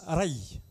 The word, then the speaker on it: Raï: Il y a Raï, ça se prononce Raï.